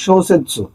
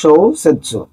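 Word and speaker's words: 小説: এর মধ্যে একটা ভালো ওয়ার্ড আছে, সেটা হচ্ছে শোসেৎসু, যার মানে উপন্যাস। তার মানে আমরা বুঝতেছি এই কাঞ্জিটার উচ্চারণ হচ্ছে শোসেৎসু।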